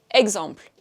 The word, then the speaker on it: exemples: Exemple. Il y a un S à la fin, puisque je l'ai utilisé au pluriel, mais je ne l'ai pas prononcé.